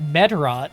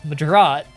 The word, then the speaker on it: Medraut: Yeah, they put the emphasis on the wrong part of the word. It's not Medraut, it's Medraut.